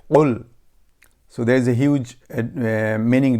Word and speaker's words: قُل: If you say kul, that means eat, and if you say qul, means say. Then we have to learn the proper way. The bigger qaf, we have to pronounce qul.